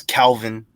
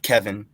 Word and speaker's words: Kelvin: I know it's Kelvin, not Kevin.